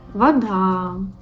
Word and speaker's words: вода: But when it's unstressed, it's pronounced like A. For example, подруга, подруга. Вода, вода.